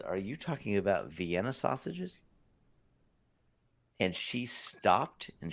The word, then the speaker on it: Vienna: I said, you mean Vienna sausages like it's spelled like Vienna, Austria? And she said, oh my gosh. Yes. I said, well, why are you calling it Vianney?